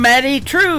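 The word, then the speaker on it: Maddye Trew: That is a brand new single from Maddie True. It is Maddye on her first name, and True is spelled Trew.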